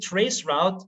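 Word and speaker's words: Traceroute: you pronounce it well i always call it trace route because it's about the u.s and so many people there say route and not roots although half of them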